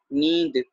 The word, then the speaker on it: नींद: जी हाँ, नींद का उच्चारण नींद ही किया जाएगा, पर अगर हल्का सा आप नासकी उच्चारण भी करेंगे तो इसमें कुछ गलत नहीं होगा। नासकी उच्चारण कहा जाता है जो हल्की सी बिंदी की आवाज दिया जाए, नींद।